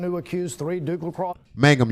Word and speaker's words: Mangum: accused three duke Lac Mangum y'all not Magnum I told y'all D lexic what you want I'm sorry okay Mangum Mangum why would they spell it so close to all right in an